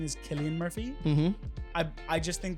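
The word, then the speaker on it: Cillian: then finally we have for actor oh uh San Murphy won which fine I need I need a is it San or Killian um I thing I believe I believe that the the correct pronunciation is Killian Murphy mhm I I just think that when he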